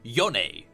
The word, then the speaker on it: Yone: Thresh and that skin has an interaction with yone or yone as they pronounce it but there's more there was also